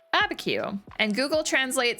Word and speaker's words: Abiquiu: All right, Abiquiu. And Google Translate says, or rather Google pronunciation, the built-in one, is saying that it's a census designated place in New Mexico.